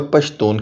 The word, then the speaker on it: پشتون: خود کو پختون اور پشتون کہتے ہیں۔ وجہ یہ ہے کہ پشتون رسم الخط کے صرف ایک حرف کا تلفظ جنوب میں شین اور مشرق میں خیم کیا جاتا ہے۔ اب تیسرے نام افغان